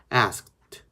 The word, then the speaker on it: asked: 뭐 asked 이렇게 하는 것보다는 asked, asked, asked, asked 하고서는 트 발음 한 번만 해주는 것만으로도 굉장히 좋아요.